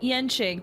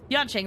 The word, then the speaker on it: Yanqing: Thought it was like Yenqing, because the reason why I say that is because in Genshin, Yanfei, even though it's spelled with an A, it's still pronounced as Yen. I don't know. Yanqing then.